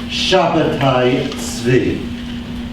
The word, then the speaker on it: Shabbatai Tzvi: much better known contemporary Shabbatai Tzvi. Now, Shabbatai Tzvi is the Hebrew pronunciation of the first name there. I myself prefer to use it. It's conventionally transliterated as Sabbatai Zevi.